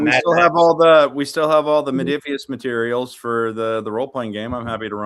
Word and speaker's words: Modiphius: How do you pronounce their name? Modiphius.